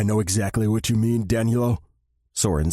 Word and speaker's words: Danilo: I mean, I know exactly what you mean, Danielo," Soren said with an exasperated tone. God, Danny loved it when Soren used his full first name, saying it like it was meant to be pronounced. Danilo.